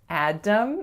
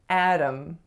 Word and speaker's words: Adam: So it's not Adam, it's Adam. Adam.